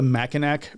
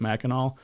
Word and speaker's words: Mackinac: Call it the Mackinac Bridge because it's actually spelled that way, even though they pronounce it Mackinac.